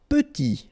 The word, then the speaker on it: petit: Petit, okay, remember to pronounce this E like a petit, final T not pronounced, petit.